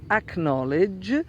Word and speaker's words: acknowledge: I've understood which is acknowledge then you do pronounce the K before the end because it's not the beginning of the word instead knowledge KN o